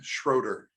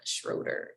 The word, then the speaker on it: Schroeder: And I should have asked before we got on how to pronounce his last name. Carl Johan Schroeder. Okay, Carl Johan Schroeder.